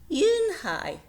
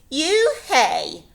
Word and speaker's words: Unhei: It's spelled U-N-H-E-I. It's pronounced Yoon-Hey. "Oh, it's you-hey," said the boy.